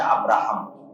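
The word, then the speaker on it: Ibrahim: ওরা এই গর্বেই ওদের দিন পার হয় যে আমরা ইব্রাহিমের সন্তান। খ্রিস্টানদের কাছেও তাই। এই জন্য দেখবেন যে তারা ভালোবেসে শখ করে ইব্রাহিম আলাইহিস সালাতু ওয়াস সালামের নামে তাদের সন্তানদের নাম রাখে, যেটা ইংরেজি উচ্চারণ হচ্ছে আব্রাহাম।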